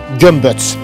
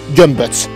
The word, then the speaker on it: Gömböc: Gömböc. Yes, that's how we pronounce it. Gömböc.